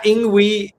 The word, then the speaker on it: INGWE: Yeah, INGWE, the pronunciation comes from Zulu.